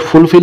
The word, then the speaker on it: fulfill: Again ako the word fulfill is pronounced with more force on the second syllable.